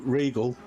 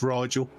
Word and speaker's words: Rigel: that uh gearhead and you know regal is is rigel i think you're struggling yeah i think you pronounced it three different ways except the right way it's rigel if you've ever watched um